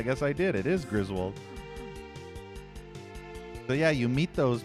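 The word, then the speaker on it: Griswold: It is Griswald.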